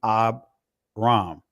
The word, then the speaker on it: Abram: this is a Shava so you won't pronounce the shavas so it'll be Abram right so but again this